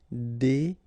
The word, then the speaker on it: déguiser: Remember when you got this G, U and I, it will give you this G sound. G. Okay. Déguiser.